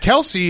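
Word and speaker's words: Kelce: Kelsey's.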